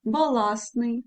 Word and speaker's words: баластний: не звуків не вимовляємо зверніть увагу баласний контрастний агентство ми не вимовляємо достеменно всі букви всі звуки також спрощення не передається